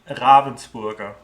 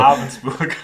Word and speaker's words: Ravensburger: Ravensburger. It's called. Okay, so Ravensburger. You got to roll the R a little bit. Well, neither one of us are right. So Taylor says Ravensburger, like the bird.